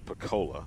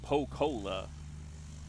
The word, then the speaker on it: Pocola: PCola, Oklahoma at You got to make sure you say it right. Yes. Paka. Paka. Yes. Not Coca-Cola. Paka. Last year I said like po uh po pocola. I said it whatever it did I said it wrong and they made